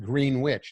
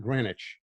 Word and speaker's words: Greenwich: York and it's pronounced Greenwich not Greenwich the high school football team is called the witches go figure anyway I'm 11 feet